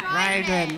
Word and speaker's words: Riordan: I'm going to mispronounce his last name, but who is Rick Riordan? Riordan. It's Riordan.